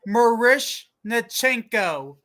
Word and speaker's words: Miroshnichenko: Sam, did you hear Capitals forward Ivan Miroshnichenko scored his first NHL goal? I heard that. Yeah, Alex heard that. Really asked that how you say it? I don't know. It's Marishnichenko. Marishnichenko.